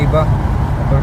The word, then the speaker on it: Ewa: Ang pronunciation sa EWA, ang pronunciation nila Iba. Basta ako ito binisa Iwa.